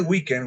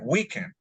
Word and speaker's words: weekend: univers yes University okay weekend we don't say weekend we say weekend okay we are on